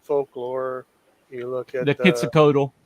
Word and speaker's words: Quetzalcoatl: You look at the Quetzalcoatl. Quetzalcoatl in Mexico and South America. Right. It's everywhere. Thanks for the correction and pronunciation there.